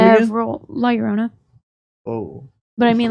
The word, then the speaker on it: La Llorona: several La Llorona. Oh. But I mean, like if you pronounce it how you're actually supposed to, it's La Llorona.